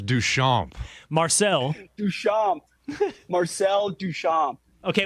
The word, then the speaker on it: Duchamp: It's Duchamp.